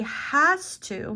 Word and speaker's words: has to: The weak form is hast. Hast.